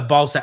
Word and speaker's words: Balzac: Oh, Balsac. Okay, so it is Balsac. Okay, so the one time I would have had it right, thinking that I'm mispronouncing it and I'm calling it a Balsac, I actually was right.